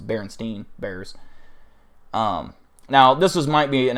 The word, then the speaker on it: Berenstain: I would say that's not how it's pronounced. It's Berenstein Bears.